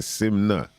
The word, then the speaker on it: SYMNNKNA: sure you type in simnet i've realized the simna because here you can silent yeah silent k you know what i